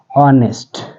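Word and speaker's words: honest: है उसी प्रकार से ऑनेस्ट ऑनेस्ट में एच साइलेंट है तो क्या बचा ओ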